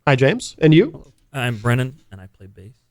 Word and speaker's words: Brennan: and I play bass Brennan yep oh how do you spell that b r n n a n do do people often think that like uh do people call you Brandon by yeah I figured